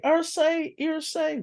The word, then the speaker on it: Irsay: you know his name, Ursay. You gotta stop mispronouncing names. Okay, Irsay, win by y'all, win by.